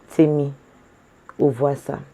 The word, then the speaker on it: Temmie Ovwasa: Yes, I was always pronouncing the name wrong. It's Temmie Ovwasa. So that's Ovwese, Temmie Ovwasa.